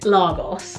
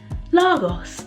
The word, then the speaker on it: Lagos: why why do they why do americans pronounce it largos like that's so weird lagos like i just think